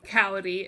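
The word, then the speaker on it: Kaori: name the girlfriend's name cowardy it's like cow and then ree right right right right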